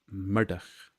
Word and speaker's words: Murdoch: I'm a murder and nobody ever says my name correctly in fact a lot of people in Scotland don't say my name correctly they go Murdoch or Murdoch but it's Murdoch like the Mad Murdoch from The A Team yeah but uh the